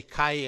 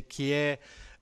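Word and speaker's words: καί: Then I learned that you don't say kai anymore, you say kie, and there is a different pronunciation from the ancient Greek.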